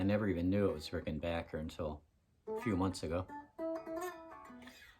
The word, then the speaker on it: Rickenbacker: We're just going to talk about the Rickenbackers. I know it's pronounced Rickenbacker, but I say Rickenbacker because I feel like an idiot when I say Rickenbacker.